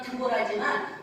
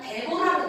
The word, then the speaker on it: 데보라: 그런데 이 여선지자에게 바로 이름이 한국어 발음으로는 드보라지만 원어 발음으로는 데보라로 되어 있어요.